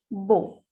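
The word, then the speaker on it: beau: Next, when we add B with EAU, the pronunciation will be Bo.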